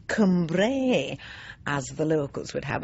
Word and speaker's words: Cumbrae: island in the mouth of a tribe called Cumbre for those of you who don't know it I should I say Cumbrae as the locals would have us pronounce it